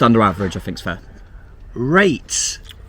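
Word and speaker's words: reyt: Rate. That's what Barnsley fans say for rights. They spell it R-E-Y-T.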